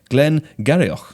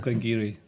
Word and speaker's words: Glengarioch: Founded in 1797, the popular Glengarioch. No! How do I say it? Glengarry.